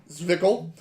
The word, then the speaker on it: Zwickel: It is pronounced Zwickel, the flagship lager of our Reverence series, classically crafted, timeless, blah, blah, blah.